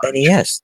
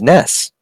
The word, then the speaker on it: NES: Oh, it's not NES. It's NES. According to Nintendo, it is just NES. Nope, it's NES. I've always kind of used them both interchangeably. I've always said NES, but they said it's pronounced NES.